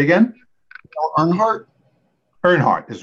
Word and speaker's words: Earnhardt: Earnhardt is right. Yes, I wasn't sure of the pronunciation.